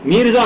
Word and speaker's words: میرزا: میرزا مہدی، یہ نہیں ہے مرزا نہیں ہے، میرزا مہدی کیا ہوا؟